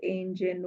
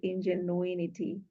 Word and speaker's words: ingenuity: um um not spelling pronunciation of the word angen we she did say Ingenuity and Ingenuity is a